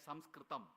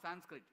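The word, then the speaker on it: संस्कृतम्: of all all languages that is samsam not Sanskrit samsam when somebody say Sanskrit because the westerners could not pronounce samam they said Sanskrit so you don't have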